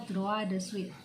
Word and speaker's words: droit de suite: Tulisannya droit de suite, nah, tapi bacanya droit de suite. Ini bahasa Prancis.